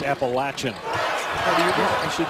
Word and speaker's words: Appalachian: appalachian state thousand universities appalachian that's how it's pronounced you of all people